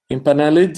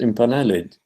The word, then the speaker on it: impaneled: Impaneled is pronounced impaneled, not impaneled. So the final syllable needs to be pronounced.